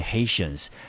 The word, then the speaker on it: Haitians: by Haitians，好，这 Haitians 就是 Haiti 啊，加上 ia 啊，那个加上 ans，我们念成 Haitians， tia 我们就念成 shion 的音。